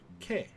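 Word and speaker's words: け: is the ket or k it is a consonant followed by a vowel it makes up a single syllable you pronounce this as k let's practice writing it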